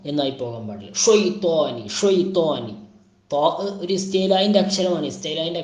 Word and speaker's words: الشيطان: ഷൈത്വാനി ഷൈത്വാനി ഒരു ഇസ്തേലായിൻ്റെ അക്ഷരമാണ്.